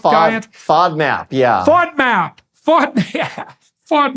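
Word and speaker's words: FODMAP: fad mop f is that right F diet fod map yeah fod map fod fod map diet right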